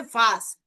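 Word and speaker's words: was: ওয়াস, সেটাকে কিন্তু বলা হয় ভাস। হোয়াট, কি। ঠিক আছে, এটার মিনিং হচ্ছে কি। কি, সেটা হচ্ছে ভাস। তো এটা মনে রাখতে পারেন যে ভে, এই যে শুরুতে ভে, ভর মতো উচ্চারণ ভাস।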